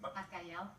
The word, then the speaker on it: Bacalao: How do you say it? Bacalao. Bacalao. Sorry about that. All right, let the record reflect. It's Ms. Bacalao.